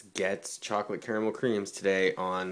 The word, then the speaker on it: Goetze: it's gets chocolate caramel creams today on the candy aisle